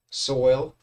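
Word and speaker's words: Soyal: The music during my break is brought to you by Soil. Soil spelled like royal.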